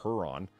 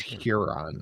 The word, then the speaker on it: Huron: And what happens if it comes as one guy, a gadfly, they describe him here, Kevin Lindicle, a frequent gadfly of Port Huron, Michigan, sued the city manager, James Freed, because Freed blocked him on his personal Facebook page.